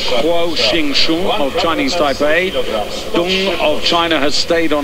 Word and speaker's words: Deng: People's Republic of Korea, and Deng, or Dung, as I should correctly pronounce her name, of China.